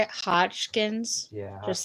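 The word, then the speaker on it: Hodgkin's: Hotchkins yeah how how do you say it Hotchkins yeah just like that okay um that's what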